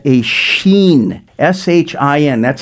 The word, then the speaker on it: Shin: It's called a Shin, S-H-I-N. That's how it's pronounced.